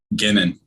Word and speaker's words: Guenin: Guenin.